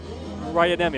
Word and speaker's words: Ryanemi: It is Denver radio big shot, Alex Ryanemi. Am I saying that right? You're saying it right.